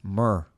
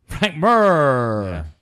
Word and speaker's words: Mir: Rory MacDonald fightin Frank Mir the does that look like leave it's pronounced mer mer swiftly move enough for